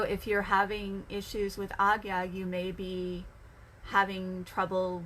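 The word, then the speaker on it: Ajna: that appears in some languages um but it's pronounced agya at least that's the pronunciation i was taught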